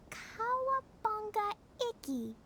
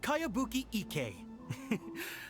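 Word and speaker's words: Kayabuki Ikkei: new one i've never heard of it by cowabunga icky this is a really strange name who's this cowabunga it's pronounced kayabuki ek that would be me outlander brigade is a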